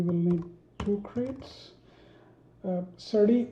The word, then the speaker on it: serde: need two crates uh certi is sir d or survey i don't know what is the right pronunciation probably sturdy so sturdy uh is a